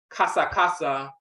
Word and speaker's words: kasa: Kasa is the actual proper vocalization of ks, to chatter foolishly, to jest. We will pronounce that kasa, to talk much, talk noisily, to chat.